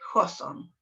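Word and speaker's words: Hawthorne: en efecto jo sol se escribe hawtorne pero se lee hodson y ya fue este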